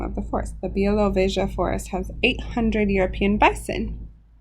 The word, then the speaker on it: Białowieża: And I spent a lot of time pronouncing this. Białowieża is the name of the forest. The Białowieża forest has 800 European bison.